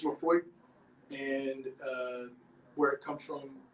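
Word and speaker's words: Laphroaig: It's Lafroig. And where it comes from, spelled I-S-L-A-Y, but it's pronounced Isla.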